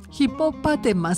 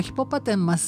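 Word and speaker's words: hippopotamus: んですねでえ正式名称がちょっと変わった発音なんですヒッポパテマ私も下が回らなくなるんですけどヒッポパテマえそれでヒッポ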